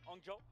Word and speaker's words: Hangzhou: How you liking Hangzhou so far? Am I saying it right? Hangzhou?